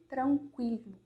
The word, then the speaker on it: tranquilo: É no sentido de tranquilo. Então, é sempre esse som seco, tá? Tranquilo. E aí, gente, a gente